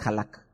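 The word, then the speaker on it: הלך: Son las consonantes, pero mejor dicho son las vocales, para que fuera más fácil la pronunciación para nosotros. Entonces es halak.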